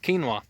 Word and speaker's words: quinoa: couple fun facts about quinoa. Quinoa is pronounced K-E-E-N-W-A-H.